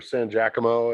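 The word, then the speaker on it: Laura San Giacomo: remember the laura saint laura sanji cuomo or san giacomo is that how you pronounce it that's how i pronounce it oh okay i i i always pronounced it sangia como um she was in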